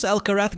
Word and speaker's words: Alcaraz: Carlos Alcaras Garfia Spanish pronunciation Carlos Alcarath Garia born 5th May 2003